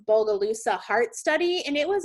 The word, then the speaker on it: Bogalusa: And actually, there's this study, I think it's pronounced Bogalusa heart study, and it was actually the first study to demonstrate that what we eat in childhood can start heart disease.